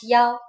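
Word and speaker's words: 幺: numbers and so on we pronounce one as ya for example a b number 101 is pronounced ya and you can even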